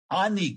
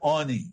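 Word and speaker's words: עֹנִי: Lechem Oni, Ani Ksiv. So it's punctuated Oni, which is to respond, to reply, to tell. But it is spelled 3 letters, which also mean ani, poor person.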